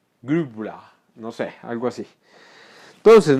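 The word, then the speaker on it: Grübler: Es que no, es difícil ese umlaut. ¿Cómo es que es? U, como la U seguida a la I. U, Grubler, no sé, algo así.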